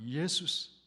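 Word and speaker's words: Ἰησοῦς: 우리말 예수는 헬라말로 예수스 그렇게 발음하죠.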